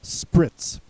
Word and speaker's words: Spritz: The next word is Spritz, also pronounced Spritz.